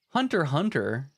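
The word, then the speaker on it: Hunter × Hunter: it's gonna be pronounced hunter x hunter the x is silent what hunter hunter it's almost like it's like hunter v hunter right like it's hunter versus hunter um it's like a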